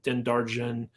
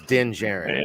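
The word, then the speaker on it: Din Djarin: were also seeing uh dendarjen going off and doing is is that how you pronounce i don't know no no the last name is pronounced with a j so it's din jaren i'm just going to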